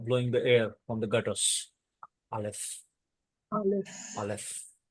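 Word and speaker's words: אלף: air from the gutters Alf Al Alf so it is a silent letter to remember it is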